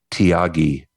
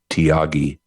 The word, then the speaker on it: Thiagi: There's a guy named Tyagi. He's an Indian man. His name is spelled Thiagi. Tyagi.